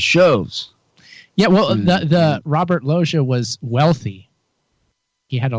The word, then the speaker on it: Loggia: And the grandfather had Can you help out with the pronunciation here, Chuck? Yeah, Robert Loggia. Loggia, there we go.